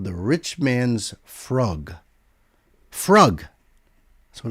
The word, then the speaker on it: frug: The Frug, pronounced Frug with a double O sound, Frug, was a dance craze.